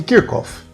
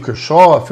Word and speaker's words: Kirchhoff: Vamos falar então sobre leis de Kirkof, que alguns pronunciam o Kirchof, outros Kirschof.